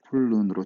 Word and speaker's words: 훑는: 자, 티읕이 먼저 평파열음화가 됩니다. 자, 그런 다음에 문제는 이렇게 자음이 연달아 우리말에서는 세 개가 발음되지 못하거든요. 그러면 하나가 탈락돼요. 그래서 이렇게 바뀝니다. 그러면 이거는 자음군 단순화가 되겠죠. 자, 그러고 나서 리을하고 니은이 있네요. 리을은 니은을 보면 괴롭히죠. 그래서 훌른으로 최종적으로 유음화가 되네요.